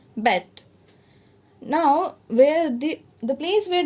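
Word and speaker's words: Beyt: Now Khadir Bet, B-E-Y-T, it is pronounced as Bet.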